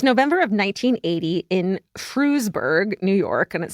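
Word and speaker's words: Frewsburg: It's November of 1980 in Frusburg, New York and it says pronounced exactly as it's spelled, Frusburg.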